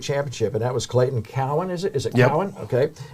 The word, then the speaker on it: Cowan: in the state championship, and that was Clayton Cowan. Is it Yep. Cowan? Okay. I want to make sure I get the pronunciation right.